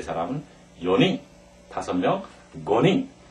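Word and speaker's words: 五人: 한 사람, 히토리, 두 사람은 후다리, 세 사람은 산닝, 네 사람은 요닝, 5명, 고닝.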